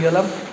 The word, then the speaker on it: Galle: করা আছে আমি আর রাজু টিকিট কাটলাম গালের টিকিট গল গল একচুয়ালি উচ্চারণটা গল নট গালে নট গলের টিকিট কাটলাম